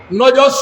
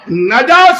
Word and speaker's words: নাজাস: নাজাস সঠিক উচ্চারণ, এটা একটু বিকৃত উচ্চারণের মাধ্যমে আমাদের ভাষায় ব্যবহার হয়।